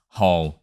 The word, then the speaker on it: Hồ: a little practice you will be able to pronounce hole just like a Vietnamese good luck and do